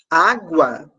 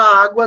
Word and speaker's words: água: nós não temos dígrafos Por que que na palavra água não tem dígrafo porque o som do G é pronunciado e o som do é pronunciador pronuncio o som do G para não ser o som do U logo eu não posso